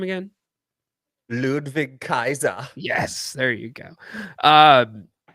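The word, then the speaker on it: Ludwig Kaiser: don't say it right what's his name again ludvig Kaiser yes there you go um so anyways why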